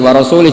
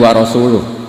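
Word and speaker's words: ورسوله: Allah itu terbebas, gak urusan dengan orang musyrik, wa rasulih juga gak ngurus Rasulnya. Kalau sama Rasul saja tidak ngurus, apalagi sama kita. Sama Sayyidina Ali dibenarkan, yang benar bacanya itu wa rasuluh, Allah bari minal musyrikin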